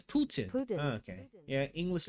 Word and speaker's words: Putin: How do you pronunciation? Putin. It's Putin.